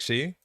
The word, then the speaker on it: Xi: correct on stream because I pronounced the she pronunciation the Chinese way and it sounded like she yeah yeah XI Dave